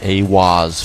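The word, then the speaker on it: Aiwass: Aleister Crowley meditated inside the Giza octagram and channeled the divinity Awaz, pronounced Awaz, furthering the immutable connection between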